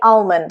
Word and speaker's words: almond: Almond. Here we've got a silent L, although in American English they do say almond, so Depends if you want to pronounce it the American way or the British way.